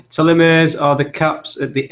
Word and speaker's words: telomere: It's telomere, or pronounced telomere, from the Greek telos meaning end and meros meaning part.